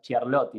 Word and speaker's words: Ciarlotti: no sé, creo que la pronunciación es Ciarlotti, ¿no? Como CH. Claro, porque en italiano la C es CH y la Ujú, CH es Q.